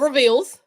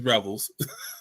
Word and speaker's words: Revels: Or reveals. Revels. I have him on my wall at my school. It's Revels.